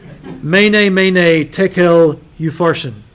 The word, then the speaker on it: Mene, Mene, Tekel, Upharsin: And I gave you the pronunciation in case you wanted to go home and wow your friends with this. Mene, mene, tekel, upharsin.